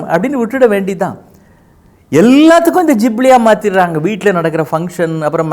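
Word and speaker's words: Ghibli: ஒரு விஷயம் என்ன அப்படின்னா அதுதான் ஜிப்லி அப்படின்னு சொல்றாங்க அது உச்சரிப்பு சில பேர் கிப்லி அப்படின்றாங்க என்னது உங்க போட்டோவ நீங்க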